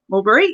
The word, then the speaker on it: Albury: So she grew up training and performing with the Fluffy Fruitfly Circus in Albury, I'm guessing that's how you say it, New South Wales. Albury, yep.